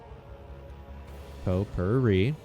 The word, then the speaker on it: potpourri: Potpourri, you're saying it right.